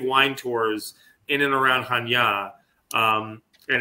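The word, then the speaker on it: Chania: area of Hanya and Hanya spelled in English is c-h-a-n-i-a-hanya but it's pronounced and it's a beautiful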